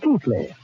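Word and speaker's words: Keighley: ancestral town of ke well pronounced in England keithly although how they made keithly out of ke i g h l e y I'll never know but that is my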